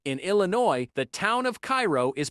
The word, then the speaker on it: Cairo: In Illinois, the town of Cairo is pronounced ko, not like the one in Egypt.